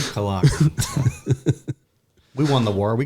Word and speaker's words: Cologne: I believe it's pronounced Kogney. Is it Cologne? Cologne.